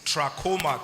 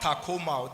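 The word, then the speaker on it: trachoma: in that basket is troma can we say it together tra not Tacoma Tacoma is a brand of helux this one is a disease troma can we say it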